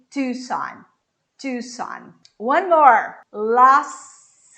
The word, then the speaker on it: Los Angeles: Los Angeles. Los, bem aberto. Los, som de S. E eu vou juntar com o Angeles. Los Angeles.